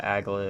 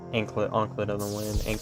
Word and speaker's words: anklet: It's just ankle with the T at the end.